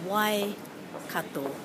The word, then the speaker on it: Waikato: So on the radio today I heard somebody say Waikato and Waikato, but it's Waikato. Waikato. Just remember the O at the end.